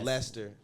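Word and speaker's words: Lister: wrong tiny Zeus Lester you got Lester it's Lester it's l i s t e r it's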